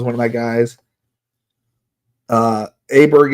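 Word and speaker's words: Åberg: Uh Aberg is 100% my guy or or Bayer or whatever you want to say his name. Call him Aberg because that's what his name says to my brain.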